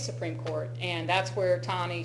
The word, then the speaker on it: Taney: Taney, or Taney, I think it's how it's actually pronounced.